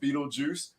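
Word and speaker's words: Betelgeuse: i was like man this is you know b tail gauze or beetle ghost i don't even know what it says you know just for everybody knowing that when you read it it is pronounced beetlejuice there is no reason no rhyme or reason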